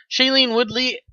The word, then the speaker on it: Shailene Woodley: played by uh shailene how do you pronounce this name shailene weedley woodley uh whatever shaylene i guess would be it i guess it's woodley woodley with the woodley yeah shailene woodley has been cut she's